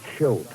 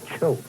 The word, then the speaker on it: Choate: Now, friends, not Choate. That's right, Bob. You don't like that. It's Choate. Spell it. C-H-O-A-T-E.